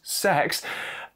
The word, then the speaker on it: CEX: Well, it's hard to say why CEX, which shockingly, they insist you channel your inner 13-year-old and pronounced sex, I kid you not, has priced this so shockingly low.